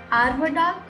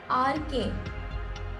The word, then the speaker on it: aardvark: Sir, is it called an arvadak? Can you spell that for me? AARDVARK.